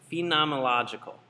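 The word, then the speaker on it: phenomenological: that's the phenomological perspective and I always pronounce this wrong it's phenomological and what that means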